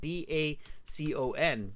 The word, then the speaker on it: Bacon: agrees I agree too it's bacon like the breakfast food and they spell it b-a-c-o-n bacon William Bacon like